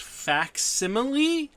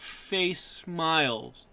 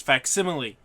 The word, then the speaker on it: facsimile: going to start this video by saying it's pronounced fa simile and not face Smiles so don't so don't be like me and say face smile it's it's fa simile fa simile just just so we can you